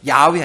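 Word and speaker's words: Yahweh: 하면은 그리고또 하나님은 조호바 원래는 여호와 야회 히브리 발음은 야외 이게 하나님의 이름들이에요 모세가 또 하나님의 이름을 뭐라고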